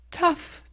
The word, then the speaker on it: tough: be c'est difficile d'être paren quelle est la prononciation réponse tough to be parents c'est difficile d'être parent rappelle-toi